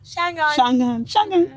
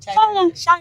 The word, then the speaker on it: Changan: It's Changan. Is what? Shangan. Yeah, Okay, we have sorry. to pronounce it Shangan.